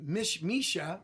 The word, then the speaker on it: Missouri: In Misha, that's how you pronounce it over there.